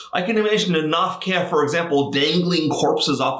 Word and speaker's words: Gnoph-Keh: Now, Gnoph-Kehs, sometimes I say Gnoph-Keh, sometimes I say Gnoph-Keh, is because in English, the GN prefix, you never pronounce the G. But why would you even have it if you didn't pronounce it here? So I'm sure it's Gnoph-Keh.